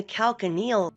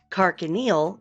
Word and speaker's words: calcaneal: The calcaneal region is the region of the heel. This region is named for the heel bone, the calcaneus. I like this one because it rhymes. Carcaneal is the heel.